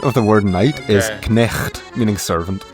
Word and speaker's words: knecht: The Dutch equivalent of the word night is knecht, meaning servant. Notice how in Dutch the K is pronounced.